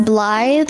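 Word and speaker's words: Blaidd: appealing to you about blade from Elden ring his name is Blythe are you pronouncing it wrong I am so sick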